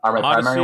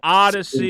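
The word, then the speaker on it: Odysee: Odyssey is the new one that people are talking about. Yeah, I don't know how to spell it. I don't really. It's pronounced ADY and then SEE.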